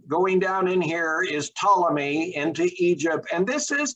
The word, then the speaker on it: Ptolemy: down here in egypt you don't pronounce the p it is pronounced ptolemy but um in our